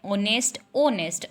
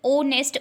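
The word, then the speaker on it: honest: ओनेस्ट एच is silent here, so ओनेस्ट ओ की sound आ रही है इसलिए हमने यहाँ पर यूज़ किया एन।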